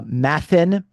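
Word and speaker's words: μαθεῖν: Um uh and and actually the the verb for learning in Greek uh mathan uh is actually uh it rhymes with the verb for suffering pathn. Okay. So matan and pathan.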